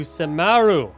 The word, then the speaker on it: Sumeru: All right, welcome, ladies and gentlemen, to Sumeru. That is actually the phonetically correct way to pronounce it.